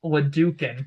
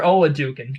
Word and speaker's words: Oladokun: Chris Oladokun, I think is how you, or Oladokun, Chris Oladokun.